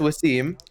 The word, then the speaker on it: Wvssim: upside down into a v so it is pronounced Waseem it's pronounced Wasim not with a Sim not